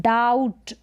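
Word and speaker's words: doubt: तो यहाँ पर बी साइलेंट है, डाउट, डाउट यानी संदेह होना। तो डाउट में बी साइलेंट है, तो इस स्पेलिंग का आप ध्यान रखें।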